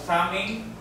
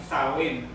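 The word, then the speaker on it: Samhain: Pagan's origin Halloween fruits are in the ancient celtic festival of saming or uh sa pronounce ay sawin now which was vagant festival associated with the dead.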